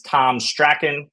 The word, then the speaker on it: Tom Strachan: today uh by matter of introduction this is Tom Sten I believe I pronounced that right Tom I meant to ask